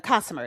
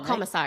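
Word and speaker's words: Komisar: This is from Erica Kosmer. Is that how you say it? Oh, Commissar.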